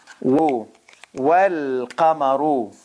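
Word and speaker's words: والقمر: Wal qamaru. Wal qamaru. Okay? Now here, remember, it's a moon letter. So moon letter, the lam is pronounced.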